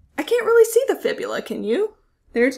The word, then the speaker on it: fibula: So the tibia and the fibula, not the tibula and the fibia. Sometimes I hear it said that way, but let's make sure that we get that pronunciation correct.